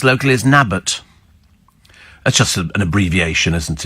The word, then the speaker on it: Newton Abbot: Newton Abbot is pronounced locally as Nabbot.